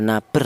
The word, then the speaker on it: nabr: Di mana wau bertasdid ini didahului huruf yang berharakat domah ini dibaca nabr ya. Apa artinya naber? Nabr itu artinya yaitu ada penekanan suara sedikit lebih tinggi. Jadi cara bacanya ditekan sedikit ya.